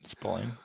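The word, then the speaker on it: Spillane: Spalain.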